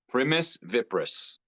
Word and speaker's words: Primus Vipris: So, Primus Vipris. Primus Vipris. Yeah, it's Okay. Latin for first viper.